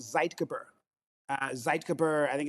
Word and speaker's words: zeitgeber: Uh light is one of the biggest and it's also it's it's a German word. It's called zeitgeber.